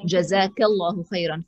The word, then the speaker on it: Jazakallahu Khairan: So Jazakallahu Khairan for a gentleman, Jazakillahu Khairan for a lady.